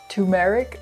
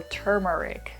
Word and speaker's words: turmeric: So is it pronounced turmeric or turmeric? Well, I looked this up and it turns out both pronunciations are correct. It's more commonly pronounced turmeric, but turmeric is the British English way of pronouncing it, so it's whatever you prefer.